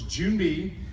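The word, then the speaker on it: 준비: So Joon-bi, the way it's pronounced is as like the month of June and the thing buzzing around in the middle of June. So it's Joon-bi.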